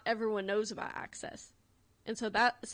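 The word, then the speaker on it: AXS: tickets from and it's called access it's spelled a-x-s and that's how I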